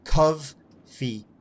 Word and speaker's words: Covfefe: Covfefe, noun, pronounced Covfefe, a portmanteau of coverage and the internet slang term Muh Fee Fees.